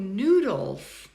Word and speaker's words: noodles: Ooh, noodles. Noodles. What do you think? It's the second syllable, right? That's the schwa.